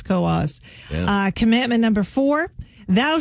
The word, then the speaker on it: Coos: bnap straford and Coos it's not K County it's Coos uh commandment number four